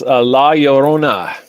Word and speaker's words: La Llorona: I'm kind of butchering this thing, but it's La Llorona. I think is how you I pronounce think it. 2 L's is ya. Yeah. So yeah, La Llorona.